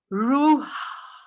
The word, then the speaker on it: ruha: So they pronounced it for me beautifully, ruha. Ruha. And doesn't that sound like breath, spirit, wind?